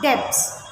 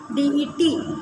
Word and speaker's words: debt: Then you have bad debts. Bad, DEBTS. It is called bad debts. BAD, bad, DEBTS, bad debts. Nobody will call it debts. It is called debt. DET. Pronunciation is DET. Debt.